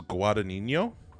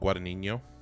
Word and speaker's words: Guadagnino: I think it's Guadagnino. I think that G is silent. Guadagnino.